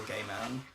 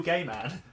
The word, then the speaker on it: Gaiman: Obviously, it's based off a book by Neil Gaiman. Don't pronounce it like that. Neil Gaiman. You said it like two separate, like it's hyphenated or something. Like it's a description.